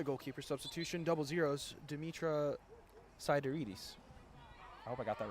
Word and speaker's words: Sideridis: And NYU making another goalkeeper substitution, double zeros, Dimitra Sideridis. I hope I got that right. Sidorides, according to the pronunciation guide.